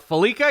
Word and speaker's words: Fallica: I'm almost positive that's pronounced correctly. Not Fallica, not Fallica. Fallica, yes? You have it.